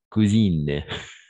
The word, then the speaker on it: cousine: Mais dans quel cas on va prononcer in? Tout simplement au moment d'ajouter le E à la fin. Par exemple, cousine, fine.